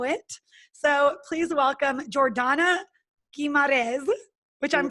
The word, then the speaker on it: Guimarães: as we know it so please welcome Jordana keymod is which I'm pronouncing right yes perfect amazing so Jordana has